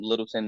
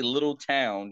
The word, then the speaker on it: Littleton: been saying I'm from Littleton North Carolina you don't say little town you say Littleton or Littleton that's how we pronounce it um but yeah went